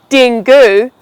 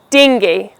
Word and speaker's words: dengue: I hope you never have to talk about this disease, but it's called dengue. It's not dengue, dengue.